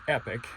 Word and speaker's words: Epoch: here is the charger they call this epic it's spelled epoch and this is a